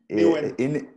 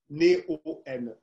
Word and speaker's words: Neoen: et, Néo-N. pardon? Néo-N. Voilà, exactement. La société dont j'arrive pas à prononcer le mot, le nom.